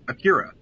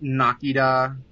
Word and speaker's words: Akira: and i said uh akira and she said it's pronounced nakida and i said uh no it's not it's i mean if it's pronounced anything differently it's definitely not that and then i had